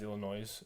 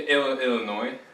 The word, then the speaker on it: Illinois: okay uh no yeah i mispronounced illinois as illinois and jack uh picked up on it and just ran with it and did that a little bit yeah no it's a silence yeah yeah illinois are you making fun